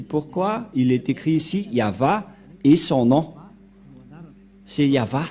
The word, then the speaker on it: Yahvah: dire non c'est pourquoi il est écrit ici yava et son nom c'est Yav son nom et